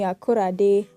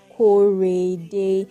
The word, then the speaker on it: Korede: People would call me Akorade, Akorede, Akorode, all sorts of pronunciations. But of course, the correct pronunciation is Korede.